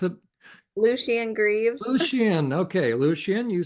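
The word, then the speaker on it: Lucien: whatever his name is okay how do you pronounce it Lucian Greavves Lucian okay Lucian you said we could debate and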